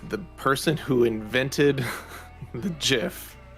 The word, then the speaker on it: GIF: number two is uh gif which is one that really bothers me because the the most most correct way to say it is jif because the person who invented the gif said it should be